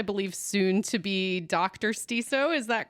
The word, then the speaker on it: Stiso: Um, it is myself, Arcadia, my co-host, Tori, and we are so excited to uh get to talk today with Christina Stisso from Did I pronounce that correctly?